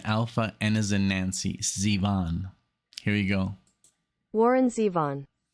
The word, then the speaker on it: Zevon: Google or or Google and uh so it's Zevon it's Warren Zevon that's the correct pronunciation for everyone if this is your first time listening to Born Zevon that's the way you say it oh that's